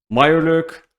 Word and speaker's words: Mirelurk: you guys about like i didn't pronounce it correctly before meyer lurk so the blood rage